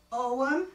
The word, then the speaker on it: Ogham: They would use hazel wands inscribed with, I'm going to blow this because I know I'm not going to pronounce this right, Ogham? Ogham, thank you.